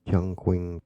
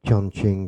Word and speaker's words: Chongqing: I own six of the most rarest dogs in the world, Chinese Chung Qing. Chongqing it's pronounced.